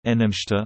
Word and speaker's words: Namaste: Namaste Hindi pronunciation, Namaste, listen, sometimes spoken as Namaskar and Namaskaram, is a customary Hindu greeting.